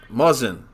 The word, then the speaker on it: Muzzin: How do you pronounce this guy's name? Mazin? Is that what it is? Muzzin.